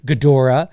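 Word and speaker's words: Ghidorah: one where he faces King uh gedra is I believe the correct pronounciation but we like to say King gadora uh that's the three-headed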